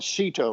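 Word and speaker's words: SEATO: in an organization called sito rhymes with nato southeast asia treaty organization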